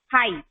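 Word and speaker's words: high: अब इसमें भी आप देखिए तो GH जो है वो साइलेंट है. ऐसे तो G का साउंड ग होता है, H का होता है, पर हम सुनते हैं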